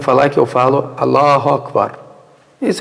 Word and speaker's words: Akbar: Tu falar incorretamente é tu falar assim, Allahu Ekber.